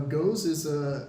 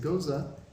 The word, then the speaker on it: Gose: originated okay so uh go is a sorry I mispronounced it goza is a top fermented